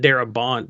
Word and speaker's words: Darabont: He pronounces it Darabont because France doesn't claim him. When he left France, he got to pronounce the T.